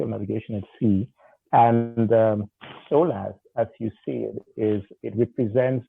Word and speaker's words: SOLAS: Let's remain technical here and briefly mention SOLAS. Is that the right pronunciation? SOLAS, the safety of life at sea.